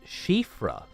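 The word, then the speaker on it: Siofra: something you know but CRA is pronounced shifra similar to how the name uh San is Shian right Shian yeah I see so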